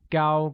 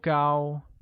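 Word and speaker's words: 高: while tall translates as gao gao with a high level tone on a note that the adjective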